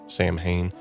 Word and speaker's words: Samhain: Celtic festival known as Samhain. Now, it's pronounced so in the original dialect, but we're going to call it Samhain from here on as we are English speaking.